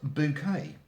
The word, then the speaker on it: Bucket: character Hyacinth Bucket, or as she preferred it pronounced, Bouquet, who was a determined social climber, and her general plans sort of came to failure, which is where the comedy came in.